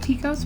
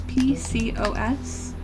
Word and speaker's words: PCOS: actually and just so you know it's it's pronounced Pecos but it's PCOS I'll type it because it stands for poly